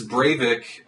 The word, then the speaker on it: Breivik: definitely gives me an appreciation that just as brave ik that's how you pronounce his name wanted to see a hegemonic